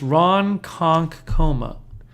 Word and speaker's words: Ronkonkoma: this thing we're not opening enough of that ronkonk coma yes you're right it's pronounced Ron conk coma says Kathy Moran conkle thank you Al I